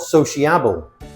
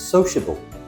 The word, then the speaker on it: sociable: It's not sociable, it's sociable. We don't say the I.